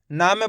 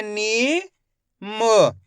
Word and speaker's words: नीम: इसी तरीके से पढ़ना आपको खीच के नीम ऐसे नहीं पढ़ना निम अगर हम निम पढ़ दोगे तो इस तरीके से